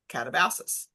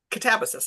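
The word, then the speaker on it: Katabasis: seen it too because she pronounces her new book catabus. So it's k a t- a b- a s i s which I was saying catabasis but it's catabis I guess.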